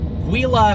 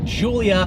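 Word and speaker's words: Giulia: offering from alfa romeo not called the wila quattroporte it is called the Julia quadrifoglio quadrifoglio actually means four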